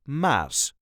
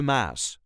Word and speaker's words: Maas: be the Muse but this is the way us duchies say the mass the mass there is no emphasis the mass all the letters will be pronounced the mass I'm going